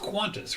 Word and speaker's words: Qantas: qantas qantas is interesting it's pronounced quantus right even though it doesn't have a you yeah i think so